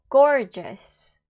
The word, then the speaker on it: gorgeous: 조심하셔야 되고 다시 한번 해보면 g 둘 다 발음 나죠 지금 한번 더 해볼게요 gorgeous 자 그러면은 Part 2 넘어가 보겠습니다 자 이제